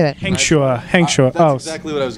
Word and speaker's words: Hengchua: Hengchua.